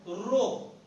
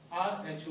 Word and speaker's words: rho: This is Greek word pronounced as rho, R-H-O, rho.